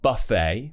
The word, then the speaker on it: buffet: So, for example, ballet, gourmet, and buffet, where we're going to do an A sound and we've kept the kind of French style pronunciation.